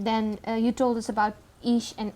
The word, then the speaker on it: Isha: And then you told us about Ish and Aisha, if I'm pronouncing it correctly. Yeah, well, Isha, yeah.